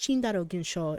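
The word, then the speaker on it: チンダル現象: ikitaru was talking about the Tyndall effect pronounced chindarogenshaw in Japanese I tried listening to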